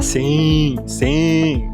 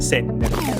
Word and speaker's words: sin: Pecado, a pronúncia é sen. O brasileiro quer falar sim. Tá errado, sen.